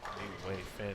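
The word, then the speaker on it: Nguyen Finn: We also learned that she does go by actually Way. But New Wave Finn is the proper order and or pronunciation.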